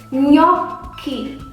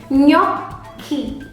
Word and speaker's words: gnocchi: find GN in Indonesia, when you find GN in Italian, in Indonesia we say like N and Y. Gnocchi. Once again, karena ada double C dan ada huruf H, jadi dibacanya K dengan penekanan. Gnocchi. Correct. So if it's in Indonesia, GN is like NY.